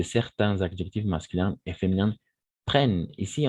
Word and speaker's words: prennent: adjectifs masculins et féminins prennent ici on va prononcer prenne d'accord on ne va pas prononcer ent à la fin attention simplement prenne d'accord prennent un accent aigu